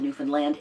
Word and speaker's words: Newfoundland: Is up in Nova Scotia and Newfoundland, which is how they pronounce it, Newfoundland, and into Prince Edward Island.